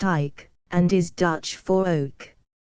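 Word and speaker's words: eik: after him the name of ik which is pronounced ik and is Dutch for Oak when before his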